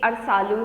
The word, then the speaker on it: अरसालू: यहाँ पर अ छूट गया है, अरसालू होगा, स्पेलिंग है अ र सो आकर लौहर्षु, ये अरसालू है, इसको यहाँ पे अरसालू पढ़ना है।